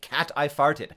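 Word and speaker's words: ChatGPT: French speakers right now because in French phonetically chat GPT sounds exactly like cat I farted sh everywhere on TV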